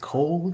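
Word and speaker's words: Caol: a brand called cult i think it's pronounced cole c-a-o-l um it is a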